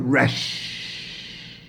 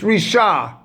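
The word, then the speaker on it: רישא: That was yesterday, but now I've spelt out that word resh. Right, excuse me, risha. It's risha. Because it's written in Aramaic here, it's not resh. It's risha, head.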